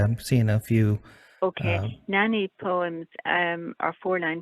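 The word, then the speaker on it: naani: a good idea i've seen a few okay nani poems um are four nine poems that originated in india they're written with a syllable count of between 20 to 25 syllables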